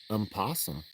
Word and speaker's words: opossum: Possum. O is silent. Yeah, because nobody says opossum.